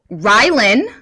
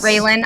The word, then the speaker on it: Rylan: Also, okay, so Rylan, like rye bread, according to Don. I will never forget how to pronounce her name. It's Rylan. Not Raylan. I always want to call her Raylan, but it's Rylan.